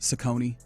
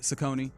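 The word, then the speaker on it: Cecconi: Uh, our guy Slade, who's on the mound for the Guardians today, apparently his last name is pronounced Sakone. So, it's Sakone.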